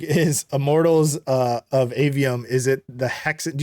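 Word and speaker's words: Aveum: Immortals of Avium, I believe it's pronounced. Yes.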